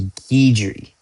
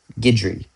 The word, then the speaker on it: Guidry: His name is Guidry. Guidry. Guidry. I don't know. It's definitely not Guerdy like I was pronouncing it.